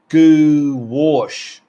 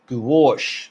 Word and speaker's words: gouache: here we go grouchy is pronounced goo wash gouache there you go gowash and i have never